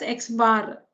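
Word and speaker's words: x̄: Mean is written like this and pronounced as x bar.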